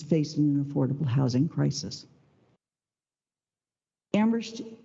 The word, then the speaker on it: Amherst: an affordable housing crisis Amherst is the community where only the H is silent our community is passionate